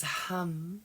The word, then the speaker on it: ham: The root syllable mantra for the throat chakra is hum, H-A-M.